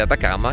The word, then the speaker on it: Atacama: "From the Calama airport to San Pedro de Atacama, which rhymes with Calama, we see the Salar de Atacama, which is this immense flat land behind me.